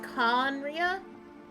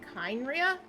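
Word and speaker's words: Khaenri'ah: So, from what I gather, it is pronounced Conria, not Kynria, as the English voice actor says.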